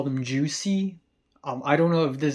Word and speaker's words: JVSY: like to call them Juicy. I don't know if this is actually the right way to pronounce their name or not, but V is sometimes pronounced like U, if you're speaking in Latin.